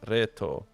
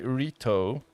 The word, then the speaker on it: Reto: the answer thanks reto oh it is pronounced reto actually use a very Latin pronunciation of my name reto but but English native speakers usually so so sometimes they say Rito that's usually the Americans they go with Rito and then um if